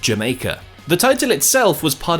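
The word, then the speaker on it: D'yer Mak'er: was the song Jamaica spelled like this but pronounced Jamaica the title itself was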